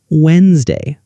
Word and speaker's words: Wednesday: The word Wednesday, we write Wednesday, but most people say Wednesday.